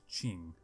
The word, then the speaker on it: Qing: it something else but it was printing out Ching even though it's felt with a Q it makes no sense